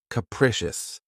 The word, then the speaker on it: capricious: Keep in mind that the first syllable has that schwa sound. K-precious. Capricious.